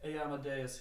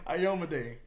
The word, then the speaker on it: Ayomade: It is wonderful to see the emblem of Amadeus here. Yeah, Amadea. Amadeus. Hey, Amadeus. Boo Amadeus. Boo Amadeus. Halloween. You know what? You mispronounced it twice too. Keep putting it back up on screen so Ayomade.